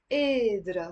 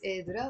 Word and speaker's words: قادرة: ما كانت قادرة. So notice here there is a قاف. So we're not gonna pronounce it قادرة or قادرة. I mean, some people in Lebanon, like the Druze, pronounce the qaf.